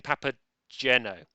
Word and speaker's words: Papageno: refuses is to say it's a hard G in Papageno alright fair enough /